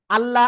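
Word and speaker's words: الله: লাম এর ডান পাশে জবর অথবা পেশ আসলে মোটা করে পড়বো তখন বাংলায় উচ্চারণের মত হবে ল ল এর মত বাংলায় ল উচ্চারণের মতই হবে ল আল্লাহ ঠিক আছে জবর বা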